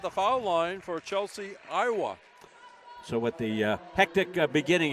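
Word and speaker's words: Ioti: I asked the coach on pronunciations, and it's spelled I-O-T-I, and he says it's pronounced Iowa, which I hope it is.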